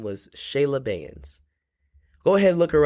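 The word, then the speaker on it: Cheyla: said she is just phenomenal at rapping it is spelled c h e y l a bands Shayla bands on Apple music or even YouTube as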